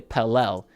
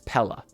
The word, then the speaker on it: Pelle: pronounced his name wrong I used to say pel now I think it's it's Pella so we'll call him Pella pel lson today 10